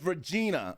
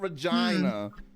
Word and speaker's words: Regina: say it regina it's first of all it's regina okay not regina yeah it rhymes with vagina i know whatever helps